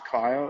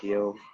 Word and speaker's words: Kiel: It is Kyle. It's spelled Kiel, which is a bit weird, but I probably get called Kiel almost every day at some stage.